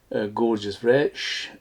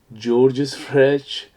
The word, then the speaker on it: Georges Rech: this is the brand gorgeous fresh or georgeous freshh whichever you want to pronounce it and this is a